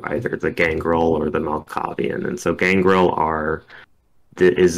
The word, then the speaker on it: Malkavian: Not gonna lie, the Malkavian, is that right? Am I pronouncing that Yeah, correct?